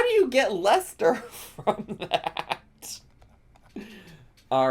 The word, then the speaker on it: Leicester: It's just Leicester. How do you get Leicester from that?